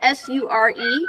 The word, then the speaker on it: sure: English uh s e sure like yes certainly sure um it looks like s e but it's pronounced sure like with a sh you are so can